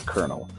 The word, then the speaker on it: colonel: All I can remember was Colonel Mustard, because it always messes with me that, like, it looks like it's spelled Coino, but it's Colonel.